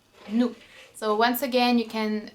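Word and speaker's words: nous: in French would be new new so once again you can see that the S at the end is silent don't know why just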